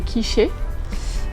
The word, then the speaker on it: quiche: lui ai demandé mais une quoi une quichée jusqu'à ce que je me rende compte qu'elle voulait dire quich et on a eu toute une dispute sur la la la bonne prononciation de du mot quich à l'époque il y